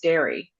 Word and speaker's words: Darë: and um he said it's pronounced dairy.